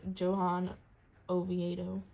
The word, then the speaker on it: Johan Oviedo: And another rookie, Johan Oviedo. Yeah, they probably pronounce the J like that. Oh, is it Johan?